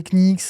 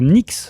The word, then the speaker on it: Knicks: Bah, on dit les Knicks. Prononce comme pas le K. Le genou, c'est ni. C'est pas gni. C'est écrit Knicks.